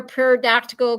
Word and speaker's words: pterodactyl: Scuba, why can't we hear pterodactyl go to the bathroom? Because the P is silent.